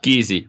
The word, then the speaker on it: Giese: Am I pronouncing this correctly? Guys? Giese, but yeah. Easy. Yeah. Okay, Giese.